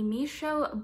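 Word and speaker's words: Mischo: For the third product in my bag, I have the Misho Beauty Nail Duo. I believe that's how it's pronounced. It's spelled M-I-S-C-H-O, and this retails for $37.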